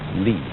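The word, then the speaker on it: 理: wood, or the fiber in muscle, and it's pronounced li.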